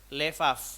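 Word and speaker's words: לב: Kata hati dalam bahasa Ibrani ya sebenarnya berasal dari akar kata lev atau levaf gitu kan, lev ya bacanya.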